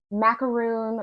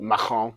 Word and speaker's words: macaron: So my favorite thing there that I wish was anywhere else is this giant macaroon, or I might be pronouncing that wrong.